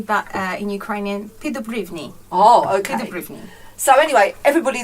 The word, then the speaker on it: Peddubriwny: it's what are you crying above on the pronunciation is in English we would say Brittany but in Ukrainian feed the Brittany oh okay so anyway everybody this is Zoe